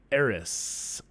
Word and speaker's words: Eris: in particular exactly square saturn it's also opposite eris that's how you say it and mars is